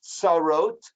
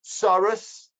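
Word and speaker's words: צרות: The term the Torah uses is tsarot, which means rivals. We're familiar with the pronunciation as tsaros.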